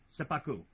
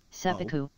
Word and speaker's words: seppuku: spelt like that for me so I could pronounce it yeah through the kanji first no get there slowly its Apocrypha seppuku no seppuku oh cool seppuku seppuku like that say it